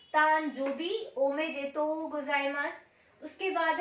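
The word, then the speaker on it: おめでとうございます: उसको आप कैसे बोलोगे, ओमे देतो गोजाइमास। अब यहाँ ओ के ऊपर लॉन्ग साउंड है, मैंने बताया था बार का मतलब लॉन्ग साउंड होता है, तो यहाँ पे हमें थोड़ा लॉन्ग साउंड देना है।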